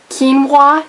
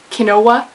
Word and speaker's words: quinoa: so you know British English disheveled not dished quinoa not kinoa Island and Isle not island or izle fizzle